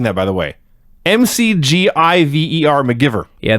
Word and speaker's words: McGiver: that by the way MC g i v e r mcgiver yeah they pronounced it mcgyver but they spelled it mcgiver they do this all